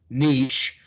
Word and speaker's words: niche: When you actually boil down to your niche, and yes, that is the way it's pronounced, when you boil down